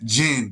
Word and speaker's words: jinn: So that's the type of shit that jinn be on. Jinn be on mischief. You feel me? So jinn is spelled Jin, but it's also Gin, like Seagram's gin.